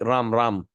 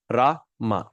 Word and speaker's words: Rama: is Rama not Ram sometime people make mistake ram ram actually the syllable the two syllable word Ram is one syllable R is two syllable so the proper pronunciation is raah ma okay good sui that's it very good question